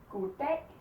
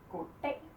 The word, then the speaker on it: goddag: Goddag. Goddag. Cut it off.